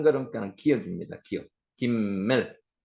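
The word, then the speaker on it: גימל: 김멜, 기멜이라고도 있습니다. 글자의 한 걸음가는 기역입니다. 기역. 김멜.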